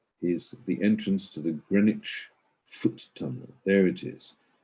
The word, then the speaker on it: Greenwich: which is greenwich uh pronounced greenwich not green witch but greenwich and uh there's the